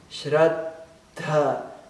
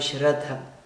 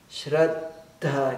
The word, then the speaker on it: Shraddha: Atenção para a pronúncia. Shraddha. Então, esse espaço na pronúncia Shraddha, esse espaço é o primeiro D. E o dha é o dh. Shraddha. Não é Shraddha. Shraddha. Que nem Buddhi e etc.